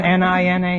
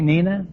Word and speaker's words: Nina: Isn't N-I-N-A Nina? No, it's Nina.